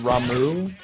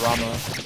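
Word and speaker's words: Ramuh: Like, I guess that the lightning summon guy is supposed to be pronounced Ramu. I resist that. If it's gonna be pronounced Ramu, don't put the H on the end of it. I always said Rama.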